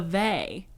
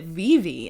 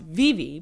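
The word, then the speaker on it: Vevay: it is v-e-v-a-y but it's pronounced vivi because it's swiss like it's a switzerland county so that's just how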